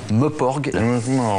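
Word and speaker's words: MMORPG: Les Meuporg. Ça s'appelle comme ça, je suis désolé. Mais ça s'écrit comment? Ça s'écrit MMMPORPG. Ah oui. Voilà. Bon, bah, il vaut mieux le voir écrit. Hein. Exactement. De le prononcer. C'est difficile à dire.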